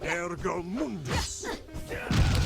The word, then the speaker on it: Ergo Mundus: I am Ergo Mundus. Ironically, I think he's the only guy who pronounces his name correctly.